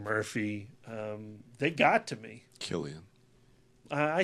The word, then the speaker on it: Cillian: Killian. I say it. I'm American. I speak American. I'm with you. I was corrected. I thought it was Killian. I like saying Cillian.